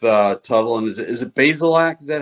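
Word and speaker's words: Bazelak: so far with uh tuttle and is it basil act is that how he pronounces his name yeah connor basilak the uh transfer from missouri former sec freshman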